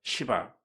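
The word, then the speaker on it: שבע: 일곱이라고 하는을 히브리어로 보니까 시바 어 발음 잘해야 됩니다. 시바 액센트를 너무 세게 주면 이상하게 들려질 거예요.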